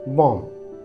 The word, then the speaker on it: bomb: then B remains silent जब एम के बाद बी आता है तो बी का उच्चारण नहीं किया जाता for example बॉम बी ओ एम बी इसमें एम के बाद बी है तो बी को साइलेंट मानते हुए उसे प्रोनाउंस नहीं करते और इसे हम